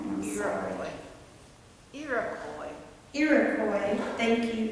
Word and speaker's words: Iroquois: In the Iroquois, and I said that wrong, and I'm sorry. Iroquois, thank you, it's not spelled like that.